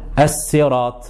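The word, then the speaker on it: الصراط: Et faire très attention parce que parfois, quand elle possède une kasra, on a tendance à ne pas la rendre emphatique alors qu'il faut quand même la rendre emphatique.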